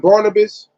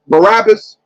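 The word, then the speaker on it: Barabbas: choose between Jesus and Barnabas Barabas barab second pronunciation correct yes do you know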